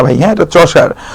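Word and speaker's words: Chaucer: দন্তেস আকারে আ চন্স আকারে আর চসার অনেকে কসার কসার বলে হ্যাঁ এটা কসার না ভাই হ্যাঁ এটা চশার প্রোনাউন্সিয়েশনটা হচ্ছে চশার হ্যাঁ এজ অফ চসার হচ্ছে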